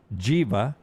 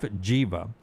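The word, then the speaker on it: Giwa: His name is Nef Jiva. It's spelled G I W A but it's pronounced like Diva. Nef Jiva.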